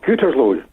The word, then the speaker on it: Gütersloh: Is it Gütersloh? Is that how I pronounce it, John? It's Gütersloh.